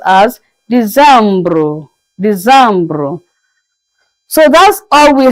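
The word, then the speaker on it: décembre: December is pronounced as Decembre.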